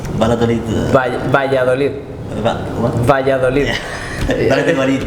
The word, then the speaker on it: Valladolid: And Valladolid. Valladolid.